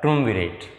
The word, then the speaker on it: triumvirate: तो इसका जो प्रोनाउंसिएशन होगा वो होगा ट्रुमविरेट।